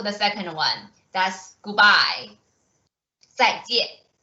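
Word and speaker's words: 再见: 再见.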